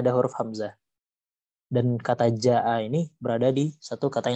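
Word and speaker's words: جاء: Maka kita harus membacanya panjang sepanjang 5 harokat dan tidak boleh putus atau maksudnya wajib bersambung gitu. Jadi tidak bisa dibaca ja berhenti berhenti di ja panjang saja tidak bisa, harus sampai a nya.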